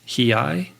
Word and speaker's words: Hiei: You travel to Japan and spend time with the running monks of Mount Hiei. Is that how you say it? Yeah, Hiei, right? I would say that you pronounce it as perfectly as as an American could.